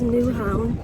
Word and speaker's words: Nyhavn: On my way to the chicken sandwich, and I just stumbled upon nyhavn. Nyhavn? I think that's how you say it. I'm gonna learn the proper way to say it. So it is nyhavn, and when I was